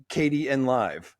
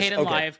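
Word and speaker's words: Kdenlive: Everything has a weird name and you're saying it's Katie and Live and I've always said Kat. There's multiple pronunciations for that. There is Ken Live. KDN live. I've heard it both ways and I just Okay.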